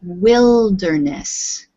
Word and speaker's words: wilderness: we pronounce this word although it has the word wild in it we say wilderness can you repeat please